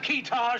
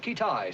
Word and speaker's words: Keetage: Have we located this fellow Keetage yet? Pronounced Kitai, sir.